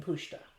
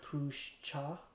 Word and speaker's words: pushta: rustling in leaves pusha from what i heard it's pronounced pushta so i'm gonna keep that pronunciation um even though it says her push cha anyway um there was